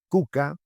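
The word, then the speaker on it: kuka: Es lo que mi amigo lleva en el pecho, la coca, cuyo nombre original es cuca. de manera que se puede pronunciar cuca escribir con una Q y una K. Ese es su fonema original.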